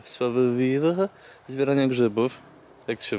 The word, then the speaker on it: savoir-vivre: Pamiętaj o savoir-vivre, zbieranie grzybów. Jak to się wymawia?